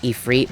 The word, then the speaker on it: Ifrit: And first things first, I know that it's actually pronounced Ifrit, but fuck you. I've pronounced it Ifrit for literally years, so I'm not changing it anytime soon.